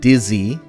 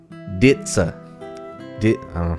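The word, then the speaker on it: dizi: It's spelled D-I-Z-I, but it's not dizzy. It's pronounced ditsa.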